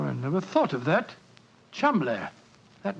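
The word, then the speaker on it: Cholmondeley: is in no way pronounced the way it is spelled. Oh, Joe, I never thought of that. Chum.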